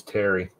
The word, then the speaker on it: Thierry: His name's Terry. Terry? Okay. Sorry, Terry. He wants to call him Theory because it looks like Theory, but it's not. Yeah. His actual name's Terry Dex.